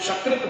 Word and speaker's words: शकृत: शब्द लेते हैं सकृत, दंत स से सकृत बोलते हैं, और तालव्य श से यदि हम शकृत बोलते हैं, शकृत सकृत यदि उच्चारण करते हैं तो अर्थ देखिए, अर्थ की भिन्नता कैसे होती है।